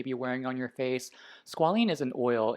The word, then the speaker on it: squalene: product i'm going to use is the ordinary squealing or squalene cleanser i should say i always pronounce it mispronounced things but this is the